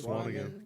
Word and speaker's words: Swanigan: Swanigan. Yeah, Swanigan.